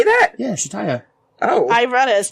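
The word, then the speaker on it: Chataya: Eddard is leaving Shataya's brothel. Shataya? Where'd that come from? That's her name, Shataya's brothel. Is that how you say that? Yeah, Shataya. Oh. I read it as Chatya.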